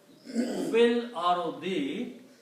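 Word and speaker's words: في الأرض: And when you read them together, you combine this fa with the lam and you pronounce fil. You do not pronounce this alif in there. It will be pronounced as fil. Fil ardi.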